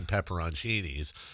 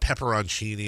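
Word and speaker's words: pepperoncini: me, I have seen pepperonchinis and it's not what are the what's the other way people pronounce it? It's not pepperonchini. Peppercinis. Yeah, it's not peppercini. It's pepperonchini.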